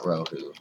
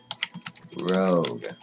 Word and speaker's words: Rogue: It's G-U-E. Nope, not Rohu. Rogue.